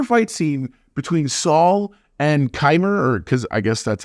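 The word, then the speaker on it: Qimir: it the entire fight scene between Saul and kimer or because I guess that's actually how his name is pronounced now that I've uh I'm actually in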